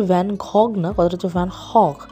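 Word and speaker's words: Van Gogh: এখানে কিন্তু জিটা সাইলেন্ট থাকে। এটাকে এইচ হিসেবে ইউজ করে। তো একচুয়াল ভ্যানগ।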